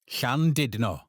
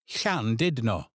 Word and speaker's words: Llandudno: This is a picturesque little village in West Wales, where the stress falls on The ll is that familiar soft breathy sound, and ch is like the ch in the Scottish loch.